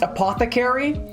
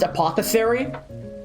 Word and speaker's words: apothecary: medicinal herbs and potions and stuff, it's apparently pronounced apothecary. But for years since I've never heard anyone say that word, I thought it was pronounced apothesary.